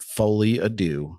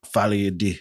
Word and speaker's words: Folie à Deux: is back in Joker fly ad do fly ad do I believe is how it's more accurately pronounced that works for me